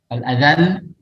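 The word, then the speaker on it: الأذل: Al-adzal lamnya ditekan menandakan adanya tasydid.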